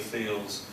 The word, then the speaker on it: Thiel: So the name is pronounced Thiel, Peter Thiel.